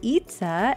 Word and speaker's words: Itza: Finally, let's hop on back to the good old Buckeye State, where we have Itza and her four bunnies from right here in Ohio. Itza, who says her name rhymes with pizza, which was a big